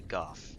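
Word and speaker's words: Gough: whose name is Hawkeye Gooff. Call your emotions. He says his own name, so you know that's how it's pronounced. and he spells it o u g h at the end.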